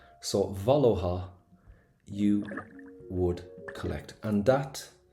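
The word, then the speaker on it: bhaileofá: I know it's a little bit weird, but we don't pronounce the F. Oh. Oh. Valha. So Valohha.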